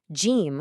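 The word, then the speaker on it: جيم: गिम्, जिसका उच्चारण 'ज' जैसा होता है, उसके पेट के अंदर एक बिंदु होता है।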